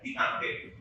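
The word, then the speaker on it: détente: It is written as Detente, but it is pronounced as Detente.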